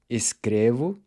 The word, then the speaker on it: escrevo: And the same thing goes for escrever, to write. Escrevo, escreve, and escrevem.